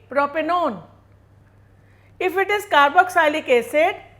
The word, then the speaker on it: propanone: will be proper null if it is a ketone we will add o n e but we will not pronounce it like 1 so it will be propanone if it is carboxylic